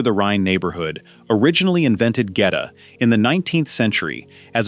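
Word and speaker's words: Goetta: Number nine takes us to the historic streets of Cincinnati for a hyper regional breakfast staple called Geta. Pronounced gheta, this unique sausage patty is crafted from a precise blend of coarsely ground pork, steel cut oats, onions, and spices.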